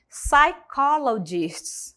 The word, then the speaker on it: psychologists: no final do parágrafo psychologists Então esse P ali do começo ele não é pronunciado psychologist con technology Breaking